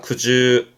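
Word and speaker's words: 苦汁: 발음은 그즈입니다. 그즈. 음은 주니까요. 그즈입니다.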